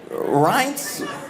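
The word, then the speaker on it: Reince: Ren Rance Priebus.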